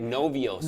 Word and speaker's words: Novios: Novios is how it's Novio.